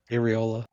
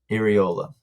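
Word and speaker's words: Iraola: I'm not going to say his name because I can never pronounce it. Areola. Iriola.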